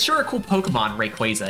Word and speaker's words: Rayquaza: uh Rayquaza you know it's not quasi the Pokemon company has specified many times guys it's they're multiple pronunciate examples of pronunciation in the show in some 3DS Pokedex thing it's quasa like quasar it's not Quasar it's Quasar oh people are like